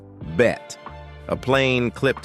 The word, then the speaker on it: Bette: Davis, though with a twist in pronunciation. Within the family, her name was shortened to a single syllable, bet.